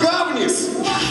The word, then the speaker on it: Гавнис: Группа Влад Гавнис. Ударение на первый слог обязательно. Гавнис.